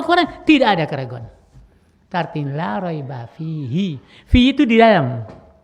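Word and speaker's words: لا ريب: Sekarang tidak ada alif lamnya, raiban bacanya. Sekarang masuklah ini, la raiba.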